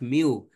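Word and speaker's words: μ: line on top of it the Greek letter pronounced mu actually small m in Greek language mu represents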